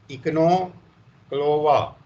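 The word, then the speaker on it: Echinochloa: तो उसका है आप ECHIN OCHLOA, इसको आप प्रोनाउंसिएट करो कि क्या होगा। ECHIN OCHLOA। तो क्या होगा, इकनोक्लोवा, ठीक है ना, इकनोक्लोवा।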